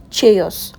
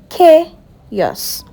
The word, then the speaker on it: chaos: Now this word is pronounced chaos, not chaos or choose. You say chos. One more time. Chos. Good job.